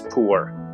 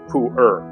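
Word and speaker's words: Pu'er: we'll save the suspense the best tea for weight loss is poor or poer or pooer Pro tip somebody who poos is a poer you can pronounce it the same way no Mandarin speaker in her right mind is going to judge okay call it po if you're going for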